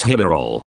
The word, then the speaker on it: Hillerød: Meanwhile, Jørgen Helm had booked me into a nice hotel at Hillerød, pronounced Hillerol, where the owner and his wife made me very welcome indeed.